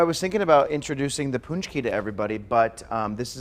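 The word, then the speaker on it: pączki: It's pronounced punchki or punchki.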